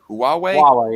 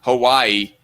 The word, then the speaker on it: Huawei: tuesday to keep uh huawei is that how you pronounce that huawei yeah that because that is definitely not hawaii it almost makes me